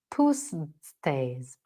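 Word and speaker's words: Pusztai: say posts say it's I'm going to spell it out for you yeah it's p-u-s-z or z t a i pustas I'm gonna go with pustas puss day's research found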